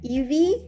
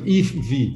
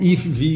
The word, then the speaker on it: Yves V: start by asking you like how do you pronounce your name is it evie yeah actually that's quite good if v it's a very difficult name yeah yeah i